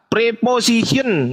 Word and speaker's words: preposition: Preposition. Nah, tahu nggak? Bang. Preposition, tahu nggak? Iya. Ya, tahu. Itu bacanya apa? Preposition. Preposition. Itu Jadi bacanya. kayak mau ngomong Z gitu.